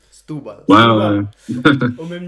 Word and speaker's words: Setúbal: Tu signes au FC Setúbal, pour la prononciation. Stubal.